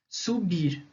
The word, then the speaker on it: subir: palavra uk é uma palavra oxítona porque o som a a sílaba tônica é a última é o bir né subir a gente fala subir